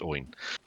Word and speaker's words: Oin: and that Oin is I can't remember if it's Oin or Owen Yeah. because the way it's spelled and pronounced, I think it should be Owen, but it's Yeah. always pronounced Oin.